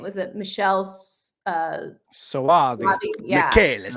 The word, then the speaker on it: Michele Soavi: It's that's I can't pronounce his name. Was it Michelle Soavi? Yeah. Michele Soavi.